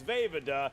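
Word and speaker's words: Vejvoda: so- It is Vavada, as in Vavada. How can you not pronounce that correctly the Yeah, first well, he time?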